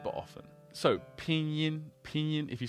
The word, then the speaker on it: pinyin: sound if you like you can imagine this pronunciation as the EAN in the word mean a great word to